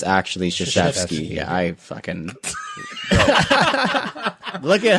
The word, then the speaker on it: Krzyzewski: Krzyzewski, quotation marks, said the correct way to pronounce my last name is Krasuski.